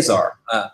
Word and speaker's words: czar: in those arts yeah it looks like it's Caesar but it's a czar so yeah yeah so